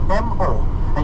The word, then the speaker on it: moa: well too so again more is chicken MOA is chicken it's not hey hey it's Moa hey hey I hate